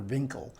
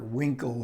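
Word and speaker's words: Winkel: eric ponto played dr vinkel and joseph cotton always mispronounces it as dr winkle and he has to correct winkle and he's really good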